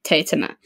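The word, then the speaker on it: Teatime: because so it is it's a major part of the book that his name is spelt t-e-a-t-i-m-e yeah um and that people say tea time and he gets really annoyed by that because he pronounced it tatuma and yeah i when i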